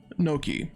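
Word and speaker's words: gnocchi: in the past a it's spelled g n o c c hi I I believe and it's spelled Noki yeah those are spelled Noki they're they're pretty much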